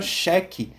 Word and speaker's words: cheque: que não é, o U não é pronunciado nesse caso.